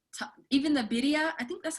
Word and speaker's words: birria: Wait, teach me how to say it again. Birria. With a double R.